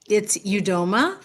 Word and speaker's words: Udoma: It's Udoma. Great. That's the way I've actually been pronouncing it, is Udoma. That's the American pronunciation.